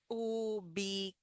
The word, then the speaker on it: ubicar: So in this case, the C has like a K sound. Ubicar. The R sound is R at the end.